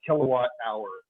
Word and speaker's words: kilowatt hour: it's going to be little k capital w h r and we're going to pronounce this a kilowatt hour kilowatt hour is the